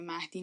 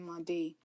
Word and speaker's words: مهدی: بودن که یو مادی مادی اصلاً شبیه کلمه مهدی نیست و وقتی که تمام کلمه‌ها رو دارن به عربی سلیس تلفظ می‌کنن برام خیلی عجیبه که چرا به جای مهدی دارن میگن مادهی و اصلا فرمن چرا